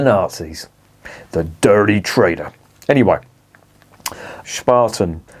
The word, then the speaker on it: Spaten: they've got on there Spartan in case you're wondering is not pronounced spaten as the little Welsh fell calls it it's Spartan and it means uh shovel